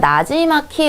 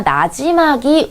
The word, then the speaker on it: 나지막이: 다시 한번 거울을 보면 나지막히 읊조린다. 자, 나지막히가 아니라 나지막이 읊조린다. 부드럽게 기로 발음을 해줍니다.